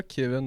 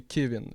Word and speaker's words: Kevin: Je m'appelle pas Kevin, moi c'est Kevin. Puis j'aime ça que ça ait été le précisé, que ça se prononce Kevin, parce qu'après ça fait des hosties de bons gags.